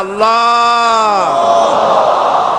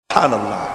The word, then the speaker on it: আল্লাহ: মুখটা একটু গোল হয়ে যাবে, বলেন আল্লাহ আল্লাহ আল্লাহ।